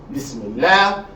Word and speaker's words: Bismillah: So in general, if the word Allah is preceded by a kasra, you're going to pronounce the lam lightly, not heavily. As in Bismillah, Alhamdulillah, Lillah, as opposed to Allah.